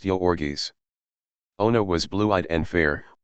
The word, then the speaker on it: Jurgis: One pronounced Yorgis.